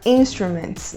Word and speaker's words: instrument: Aqui o importante é nós focarmos na sílaba tônica da palavra. No caso de instruments, a sílaba com mais força é a primeira, instruments. E um uso da palavra instruments na aviação.